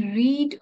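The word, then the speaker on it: read: हे रीडच आहे सो इथे तुम्ही रीड रेड असा याचा उच्चार करू शकतात ही रेड अ बुक पण स्पेलिंग मात्र सेमच राहणार आहे ही रेड अ बुक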